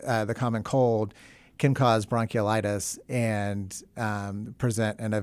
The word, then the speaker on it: bronchiolitis: listening to think well he's pronouncing bronchitis wrong no it's they're two distinct things two distinct things bronchiolitis and bronchitis so uh can you